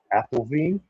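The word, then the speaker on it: Apfelwein: Obviously, is fermented apple juice, or if you're German, I think it's pronounced Appelwein, but apple wine.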